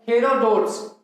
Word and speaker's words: हेरोडोटस: ठीक है मित्रों, मैंने एक नाम लिखा है हेरोडोट्स, या इसे हेरोडोटस भी बोल देते हैं, उच्चारण का अंतर है।